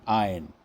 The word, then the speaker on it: ein: Then we have indefinite articles, and for masculine it is EIN, ein, pronounced as ein.